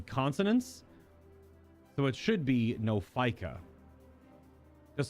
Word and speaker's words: Nophica: Well, the comments about how Lady Demetress crawled so that the Nophica could run make sense now.